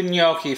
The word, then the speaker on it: gnocchi: red so this week i'm going to do gnocchi for you now gnocchi is one of those sort of little odd words it's spelled g-n-o-c-c-h-i it's actually an italian word and